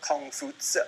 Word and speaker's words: Kongfuzi: Well, Confucius, or Kongfuzi, I think is properly pronounced.